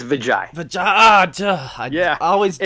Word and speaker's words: Vijoy: Did I say it right? It's Vijoy.